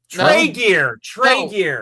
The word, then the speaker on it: Tregear: Tregear. Oh. Trigger. Whatever. Taiga? How do you say it? Tregear.